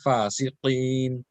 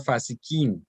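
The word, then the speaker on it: فاسقين: Also, fasiqeen has got a qaf, so illal fasiqeen, qaf, not fasiqeen, not kaf.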